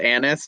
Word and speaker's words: anise: hardcopy at jcpo and sometimes i hear it pronounced anise but i hate the sound of that so i still call it a niece um take take what